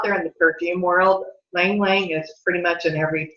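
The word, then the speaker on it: ylang-ylang: Now, let's go on to another one that's called Lang Lang. Okay, it's spelled Y-L-A-N-G twice.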